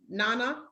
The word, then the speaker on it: Nana: because you are the queen mother and it's pronounced nana is that yes okay that's that other name